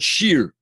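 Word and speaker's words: שיר: This is called a chirik, and it's pronounced E, called Baalei Hashir, right?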